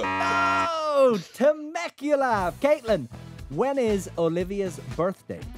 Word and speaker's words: Temecula: See, I don't know how to pronounce it. Take a guess. Tanuga. Oh, Temecula.